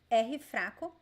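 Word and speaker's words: r fraco: the two vowels so every time we have the letter r between two vowels like in the middle of a word it sounds like this arm it is called ahifraco weak arm and it is create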